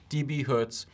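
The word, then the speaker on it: dB-Hz: as DB dot Hertz either way it's pronounced DB Hertz and that's the the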